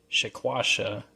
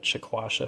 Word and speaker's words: Shekwasha: here but also the shaquasha uh this one's pronounced a few different ways but and spelled as well but we'll call chasha for this video so two very unique